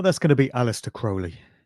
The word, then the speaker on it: Crowley: His name is often mispronounced as Crowley. It's actually Crowley.